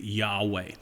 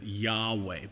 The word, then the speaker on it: Yahweh: up the name of God in English we pronounce this name Yahweh it's also been transliterated Jehovah but it's really